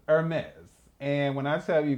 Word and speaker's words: Hermès: Hermès. It starts with an E. They're like, no. Hermès is actually a French company, and it is spelled Hermes.